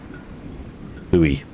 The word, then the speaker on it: buoy: And he's talking about boy as in the nautical boy, or as our Americans would say, I can't remember how they pronounce it now. Buoy, there we go.